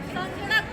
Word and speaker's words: संगणक: संगणक, सही प्रोनाउंसिएशन संगणक। क्या बोलते हैं? संगणक। ना का साउंड आता है ग से पहले, संगणक।